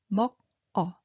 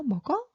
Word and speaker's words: 먹어: So 먹어, 먹어. So we all need to know all this pronunciation rule, but no worry too much. Okay, so when you see this silent one, okay, so moves over.